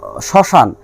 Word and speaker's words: শ্মশান: এবং শ্মশান, শ্মশান শব্দে প্রথম বর্ণে তালবস্বর সঙ্গে ম রয়েছে এবং তালবস্বর উচ্চারণ স্বাভাবিক না হয়ে একটু দীর্ঘ হয়েছে এবং উচ্চারণে কিছুটা শাসাঘাত পড়ে।